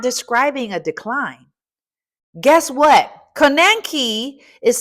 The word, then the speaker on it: konenki: It's spelled k o n e n k i. Here's the phonetic. Ko nen ki. Ko nenki.